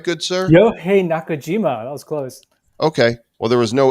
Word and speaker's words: Yohei Nakajima: Did I pronounce it right, good sir? Yohei Nakajima.